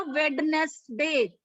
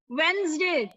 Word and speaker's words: Wednesday: वेंसडे. Excuse me ma'am. हाँ जी. Ma'am can I pronounce वेडनेसडे? यस यू can. Ma'am वेडनेसडे. नहीं बेटा, इट्स नॉट वेडनेसडे, इट्स वेंसडे.